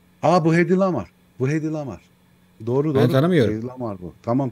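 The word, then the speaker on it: Hedy Lamarr: öyle mi yoksa A bu HY lamar bu hedy lamar doğru doğru lamar bu Tamam tamam buy lamar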